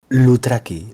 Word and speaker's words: Loutraki: Loutraki, la OU en griego es U, como en francés.